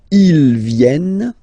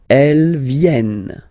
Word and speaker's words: viennent: Ils viennent, elles viennent. Ils viennent, elles viennent. Alright? E-N-T, you don't pronounce them. Ils viennent, elles viennent.